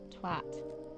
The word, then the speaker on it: twat: They say it like it rhymes with cat, twat.